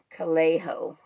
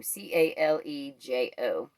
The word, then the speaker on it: Calejo: It is Ryan Calejo, I think is how you say his name, Calejo.